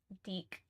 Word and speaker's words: DIC: DIC is pronounced like BIC? Wait. Not spoiling specific plot points. Copy. Deke.